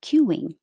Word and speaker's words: cueing: be bold cueing cueing the important part is to round your lips for q-wing cueing overwhelmed overwhelmed unidentified and